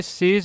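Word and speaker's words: sees: ठीक है तो यह सीज वर्ड को आप यहां देखो एस डबल ई तो सी होता है ठीक है लेकिन इसमें एस लग जाता है तो इसको ज पढ़ते हैं क्या पढ़ते हैं ज सेज ठीक है?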